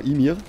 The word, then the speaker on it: Ymir: Ja, Ymir, wie wird ausgesprochen? Doch, genau, Ymir.